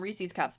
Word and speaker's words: Reese's: And um Reese's cups, but Casey ate all those. Reese, it's actually Reese's cup. Reese owns the cups.